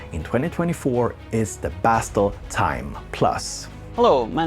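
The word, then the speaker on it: Thyme: months or so is time plus from bastel instruments which is spelled like the herb as in Parsley Sage Rosemary and time plus anyway this is a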